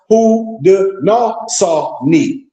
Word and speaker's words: Haudenosaunee: The people of the Iroquois Confederacy, watch this, also known as the Six Nations, refer to themselves as Haudenosaunee, pronounced Haudenosaunee.